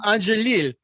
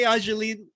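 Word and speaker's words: Angélil: Angelil. So I think Renee Angelil, who was very protective.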